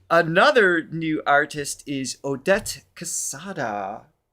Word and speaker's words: Quesada: And another new artist is Odette Quesada. It's Q-U-E-S, but I don't think I do the qua, right?